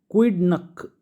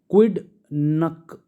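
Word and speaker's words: quidnunc: ठीक है तो यह क्विड नक ठीक है इसको एन साइलेंट कर लो तो इजी हो जाएगा प्रोनाउंस करना क्विड नक ठीक इसका मतलब होता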